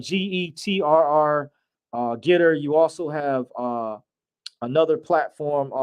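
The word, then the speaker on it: GETTR: It's spelled Getr. Getter.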